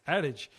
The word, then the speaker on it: adage: He came over and said, it's adage.